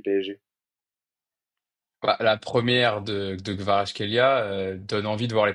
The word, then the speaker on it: Kvaratskhelia: Je dis Gvara parce que j'ai du mal à le prononcer intégralement. C'est Gvara, c'est ça? Ouais, c'est ça, Kvaratskhelia.